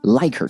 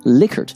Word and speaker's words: Likert: a little bonus fact is it pronounced Likert or Likert scale I always say Likert but some of my colleagues say like her scales to clarify should be pronounced Likert because the psychologist we invented a scale is actually a gentleman named Likert and that